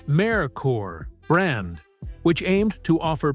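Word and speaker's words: Merkur: Based on the Ford Sierra from Europe, it was imported under the newly created Mercur pronounced Marore brand which aimed to offer premium Euro inpired vehicles through Lincoln Mercury dealerships.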